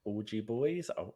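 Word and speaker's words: Augey Boyz: i pronounce this right it's like orgy boys i'll spell it a-u-g-e-y then boys but with a z on the end instead of an s um and basically they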